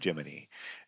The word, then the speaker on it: Gemini: Well, they deliberately mispronounced a particular word, Gemini, as Jiminy.